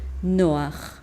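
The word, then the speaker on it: נח: nombre de Noé porque Cómo se dice no en hebreo se dice noah y ahí lo vemos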